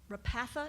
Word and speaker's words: Repatha: Mike, could we talk about Repatha? Is that how you say it? Yes. So that's the contract that you initiated with Amgen, Correct.